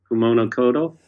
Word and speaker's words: Kumano Kodo: Is that the right way to pronounce it? Kumano Kodo.